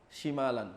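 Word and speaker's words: شِمال: Jadi jangan disebut syimalaka, syimalaka padahal maksudnya syamalaka itu beda arti antara syimal dengan syamal.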